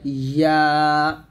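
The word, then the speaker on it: ي: তারপর হচ্ছে ইয়া। ইয়া জিহ্বার মধ্যখান তার বরাবর উপরে তালুর সঙ্গে লাগিয়ে ইয়াটা উচ্চারণ করতে হবে, ইয়া এরকম ভাবে।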